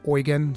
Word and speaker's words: Eugen: also in the party I know that if you read the name it says Eugene almost but the pronounciation of his name in this game is actually oan so that's the way that I'm going to be referring to him he's just the range